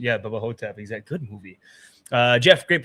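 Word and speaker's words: Bubba Ho-Tep: pronunciation. Yeah, Bubba Hotep.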